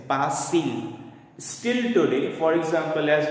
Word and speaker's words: Bastille: Now Bastille is the English pronunciation. The French pronunciation of Bastille is Bastille.